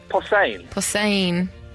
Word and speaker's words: Posehn: Behosen? Posehn.